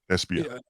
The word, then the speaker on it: Ishbia: How do you pronounce it? Ishbia.